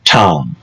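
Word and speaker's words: Thom: trip, but James Alexander Tom, and that Tom is spelled T H O M. Is that like Major Tom?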